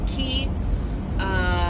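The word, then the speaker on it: Quay: They are the Key, which is spelled Q-U-A-Y, Key It's an Australian brand.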